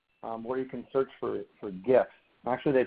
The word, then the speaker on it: GIF: there's another feature where you can search for GIFs. Actually, they pronounce it GIF, but it's spelled GIF.